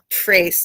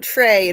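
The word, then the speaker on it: tres: um and I think this is now supposed to be Trace not Trey in French but Trace is in Spanish for three so I think I was pronouncing it wrong the whole time hey welcome nice to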